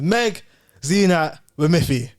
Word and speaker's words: Meg Zeenat Wamithi: your name in it because her name is Meg xenat with Miffy come on you said it right that was